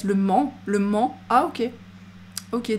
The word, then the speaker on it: Le Mans: Mans c'est une ville ça se prononce pas le on prononce pas le S Le Mans Le Mans ah ok